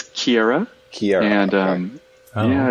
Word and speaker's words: Ciere: the name of your company how do you pronounce it again yeah it's Kiera here and yeah it's a Latin word it